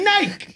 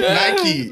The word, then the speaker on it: Nike: I'll say Nike. I'll go home and not pronounce the E. Which is mad disrespectful. Y'all know what we say. Nike. Yeah. Apparently that's how it's meant to be said, but It is.